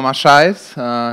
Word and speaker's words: Maçães: Then we have Bruno Maçães, is that the right pronunciation?